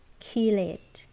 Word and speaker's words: chelate: This is pronounced chelate.